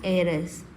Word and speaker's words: heiress: So here H is a mute, that means silent letter. So an heiress.